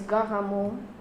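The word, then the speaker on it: Garamond: When you're dealing with typeface names, you can call them, you can try to adjust your pronunciation to the original name. You can Americanize them or make them sound English, but really it's Dido. It's Garamo.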